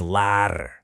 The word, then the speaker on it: lærer: To learn is lærer. That's L-A-I-R.